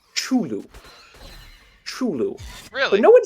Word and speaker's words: Cthulhu: fact about Cthulhu specifically his name is actually supposed to be pronounced chulu really no one says